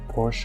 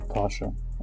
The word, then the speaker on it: Porsche: should pronounce it is POS like this is the German pronunciation uh but anyway like